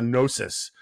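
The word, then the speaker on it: gnosis: this sort of this forms a nosis with a silent G right that um prevents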